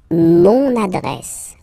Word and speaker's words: mon adresse: Mon adresse, my address, mon adresse, mon adresse. Okay, you can hear now this little link, so you get to pronounce this N.